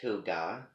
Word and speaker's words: Hygge: Hygge, pronounced Huga, Huuga, which sounds like, something, that what does that name sound like to you?